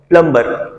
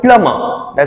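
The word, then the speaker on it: plumber: है ल call the प्लंबर ना ट्स नॉट प्लंबर ट्स called प्लमर ट्स called प्लम okay B will रिमन silent shots Attlee called प्लमर ल move towards the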